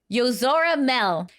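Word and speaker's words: Yozora Mel: news this is okay I'm going to say it properly because everyone was busting my chops in the comments this is yora Mel yora Mel was a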